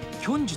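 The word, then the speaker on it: 慶州: 時間慶州と書いてキョンジュという町。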